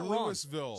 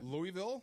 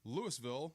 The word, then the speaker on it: Louisville: I said Louisville or that's not louville so there are there's a whole thing there are three correct ways to pronounce that city in Kentucky Louisville yeah Louisville yes and Louisville Louisville those are it that's it I got